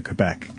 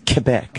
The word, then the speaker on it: Quebec: it's worth it to take the boat to Quebec.